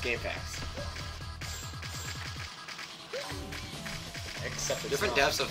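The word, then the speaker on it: GameFAQs: game faq's the website it's pronounced game facts accepted different depths of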